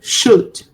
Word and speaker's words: should: I do not pronounce the L sound. So should, right?